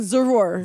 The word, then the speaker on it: Zarur: Zarur. Zarur. And that's why I was letting him say it because in all honesty, I was pronouncing it kind of like Zara.